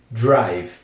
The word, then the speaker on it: drive: r i v e drive Então significa dirigir uma coisa em relação a pronúncia tem esse I aqui uma extensão de i como é bem comum no inglês então drive vamos pra frase propriamente